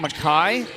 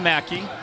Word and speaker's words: Mackay: Okay, somebody said it's pronounced, is that Mackay? Nate DeHosey, are you saying Mackay with a K-A-Y? That's what I'll go with right now, not Mackey.